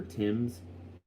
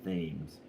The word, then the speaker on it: Thames: name is english and the age in it is silent like the river tim's in england by london is the age of silence so it looks like the river thames but it's the river timbers thanks dirk yeah i